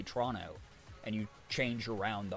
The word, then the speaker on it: Toronto: It's if you pronounce the second T, you've never spent any time in that city outside of like flying through the airport, you know?